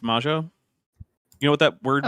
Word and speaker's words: Magyar: It looks like Magyar, but apparently it's pronounced Majo.